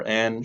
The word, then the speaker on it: Ayn: I think it's pronounced either Ayn or Ann.